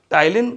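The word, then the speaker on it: ptyalin: टाइलिन नाम का enzyme टाइलिन में पी साइलेंट है बेटा ठीक है पी टी वाई ए एल आई एन टाइलिन या इसका दूसरा नाम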